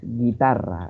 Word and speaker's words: guitarra: Por ejemplo, esa palabra que coloca Eliana es guitarra, ahí suena la I y se omite el sonido de la U.